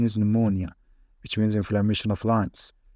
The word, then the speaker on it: pneumonia: a little bit High PN which pronounced n it's really tricky for some medical students that pronounce the this word correctly pneumonia some of the students might pronounce this word incorrectly and say Pia which is not correct